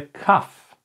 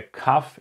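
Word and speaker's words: כף: So that's the kuf, and the kuf is pronounced exactly like the kaf that we had in the first part. So if you can remember, we said the kaf is pronounced like a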